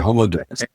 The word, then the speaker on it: Homo Deus: You touched on it earlier, and that is Homo Deus. Is that how you pronounce it? Yeah, Homo Deus.